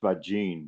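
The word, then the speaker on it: Faggin: So that's his his name is pronounced Fajene by the way.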